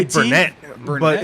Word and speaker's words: Burnet: Burn it. I'm saying it wrong. They say burn it. Yeah, they say IT? Burnett, Burnett?